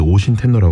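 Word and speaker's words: 応神天皇: 왕이었던 응신이라 인물이 있는데 일본 발음은 이제 오신 테노라 합니다 이제 이렇게 얘기를 해요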